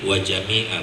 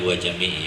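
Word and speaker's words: وجميعا: Kalau benar bacaannya seperti yang saya baca tadi ya, jadi wa jami'a bukan wa jami'i ya, wa jami'a. Jadi ma'tufnya ke jami'a, wa jami'a itu ma'tuf ya. Jadi mansub hukumnya. Jadi bukan wa jami'i tapi wa jami'a.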